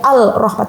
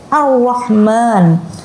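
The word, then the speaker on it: الرحمن: Ar-Rahman, lamnya tidak dibaca, bukan dibaca al-Rahman, tapi Ar-Rahman.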